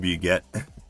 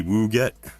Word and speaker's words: wget: It's pronounced well that's what I call it. be a get. Why should it be woo get?